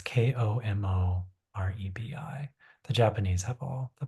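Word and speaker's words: 木漏れ日: It's spelled como rebe. I think it's pronounced como lebe, um, but it's Komorebi.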